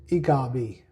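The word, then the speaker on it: ecobee: Actually, it's e EcoB cuz Eco EcoB cuz Eco stands for ecology.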